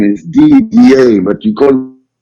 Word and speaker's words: Didier: having trouble pronouncing Your Name What's the correct pronunciation of my name in French name is DDA but you could call me you know